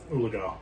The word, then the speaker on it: Oologah: Oologah.